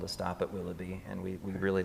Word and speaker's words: VVilloughby: So if people go on to look for you guys, it's spelled with 2 capital V's instead of a W. So what was the reasoning with that again? Well, so we decided on the name Willoughby.